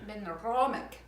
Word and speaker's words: Benromach: Benromach. Yes, that's exactly how you pronounce it.